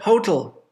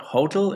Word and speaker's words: hotel: the first syllable and native English we'll put it on the second one so it's not hotel it's Hotel and it's